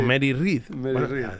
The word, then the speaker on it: Mary Read: Eso es va de piratas como Anne Bonnie y Mary Read. Re o Rea o Pronunciation o Mari. Mari o Mary Reedh, depende de dónde de tu acento, ¿sabes?